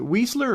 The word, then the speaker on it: Weisler: Is it Weisler or Weasler? Is it like? It's Weisler. Weisler. Yep. Okay. Yep. Weisler. The I is silent.